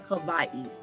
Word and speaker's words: Hawaii: Hawaii, that's how you say it, Hawaii. That's the correct way to say it.